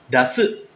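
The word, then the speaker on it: 出す: Yang tadi keluar itu dibaca D, sedangkan yang ini mengeluarkan dibacanya da. Dasu, dasimas.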